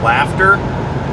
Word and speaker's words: laughter: They both have a GH, but in one of them the GH is silent, and the other one the GH makes an F.